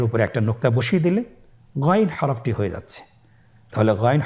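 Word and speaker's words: غين: আমরা অনেকে বলে থাকি গাই না এটা ভুল উচ্চারণ এভাবে উচ্চারণ করা যাবে না যেহেতু হরফটি মোটা এজন্য মোটা করে উচ্চারণ করতে হবে মাশাল্লাহ আলহামদুলিল্লাহ আমরা আজকের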